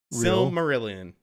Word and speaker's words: Silmarillion: Silm? Silm. Silm. Ma. Silmarillion. There you go.